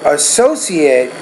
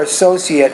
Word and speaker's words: associate: And that second word is associate, or associate, depending on whether it's a verb or a noun.